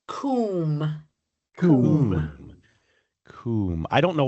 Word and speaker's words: cwm: I'm going to say it's something like cooaim. Um not bad. It's usually more like coom.